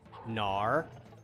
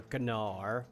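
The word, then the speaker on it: Gnaar: there we go hello Nar or gar or however you want to pronounce it I like to say nar because the like yeah I like to imagine that the g is silent there we go [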